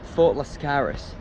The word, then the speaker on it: Fort Lascaris: Um it's pronounced Fort Lascaris and it was built in the 17th century but it was actually very important in the Second World War.